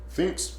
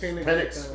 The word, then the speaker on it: Penix: Finks, that guy. Is that how you say his name? Penix.